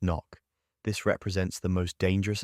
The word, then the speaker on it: NOC: You're offered something entirely different, non-official cover, NOC, pronounced knock.